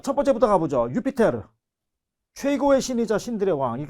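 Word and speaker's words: Iuppiter: 우리가 명칭을 갈 수 있을 것 같습니다 자 유피테르 언제나 티머시 발음 이구요 우리는 영어식 발음에 조 익숙해져 있죠 주피터 록 쭉 주피터 제우스 같은 말이에요 4 있어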